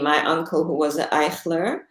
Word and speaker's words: Eichler: Judy and I met just casually via Facebook because she recognized my last name as Eichler, which is also, or Eichler, which is how my grandfather would have pronounced it.